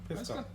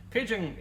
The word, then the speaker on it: Pidgeon: Pisca? Yeah. So, yeah. As me and Deb discovered earlier on, it's pigeon. The surname is Pidgeon, but pigeons are Pigeon.